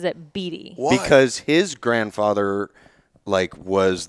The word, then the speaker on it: Beatty: Beatty. Yeah. Too close to Bieber for my. See, the thing is, he pronounces his name wrong. It's spelled Beatty. Like Warren Beatty. But he pronounces it Beatty.